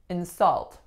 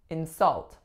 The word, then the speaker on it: insult: we have insult insult so the strongest syllable is the second telling us that this is a verb the first syllable was in insult as in please don't insult anyone as a noun we would do the opposite and say insult insult please do not fire